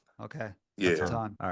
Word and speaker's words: Aton: so I don'mess it up so it's Aon okay yeah Aon all right Aon yeah just didn'want to pronounce it wrong